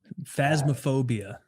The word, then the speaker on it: Phasmophobia: How do you pronounce it? Phasmophobia.